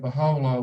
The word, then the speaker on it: Bahá'u'lláh: we used to write baha'u'llah with an O that's how you pronounce it but in his system the U is pronounced as o so we continue saying